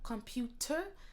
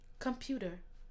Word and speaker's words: computer: Et aussi, quand ça se dit rapidement, comme l'autre mot avant, le T, ça devient un peu comme un D. Alors, c'est pas vraiment computer, mais computer.